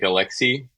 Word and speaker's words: Alexis: well not really because in French my name actually just sounds like Alexi despite the S the S is silent and French so that's kind of